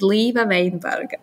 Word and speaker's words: Līva Veinberga: to be here and yes my name is leva weinberg it was quite well pronounced no problems with that thank you and